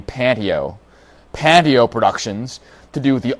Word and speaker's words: Panteo: I'm partnering up with I always want to call them Panteo, but they pronounce their name Panteo.